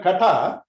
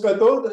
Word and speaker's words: Katha: this operation is called Katha English it is written as Kato so people pronounce cathode and they say because